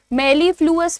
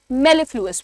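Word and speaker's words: mellifluous: मेलफ्लुइस कैसे बोलेंगे आप इसे? मेलफ्लुस। मेलफ्लुस मत बोलना। मेलफ्लुएस बोलना।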